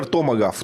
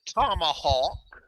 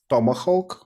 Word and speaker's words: tomahawk: be pointed somewhere yeah we pronounce it tomahawk tomahawk a hawk is a bird right a bird of